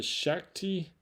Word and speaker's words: Shakti: and this is the the Shakti is how you pronounce it shaky mat pressure acupressure